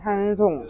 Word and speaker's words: 한송: 한송. 한송을 못. 되게 예쁜 이름인데. 근데 미국 사람들이 한을 HAN을 한으로 안 하고 보통 헨으로 읽잖아요.